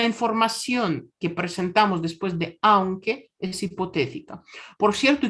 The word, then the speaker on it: aunque: Es aunque. Con esta pronunciación. No es aunque, por el amor de Dios, es aunque. Porque A es una vocal fuerte, U es débil.